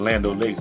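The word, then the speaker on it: Land O'Lakes: In the hood, they call it Lando. Lando Lakes.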